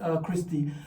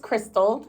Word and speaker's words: Crystal: Talk to us this afternoon, Christy, just to tell us about your journey, your background, who you are, and what brought you to this land of cold weather. Yes, so it's actually pronounced Crystal. Crystal.